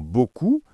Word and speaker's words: beaucoup: Par exemple, dans beaucoup, il y a plein de lettres à la fin mais on ne les entend jamais.